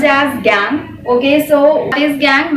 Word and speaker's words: gangue: And the next one we have, so it is pronounced as gangue, okay?